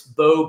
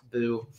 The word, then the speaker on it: Beau: And then LinkedIn, it's Beau, Beau, and it's not pronounced Boo.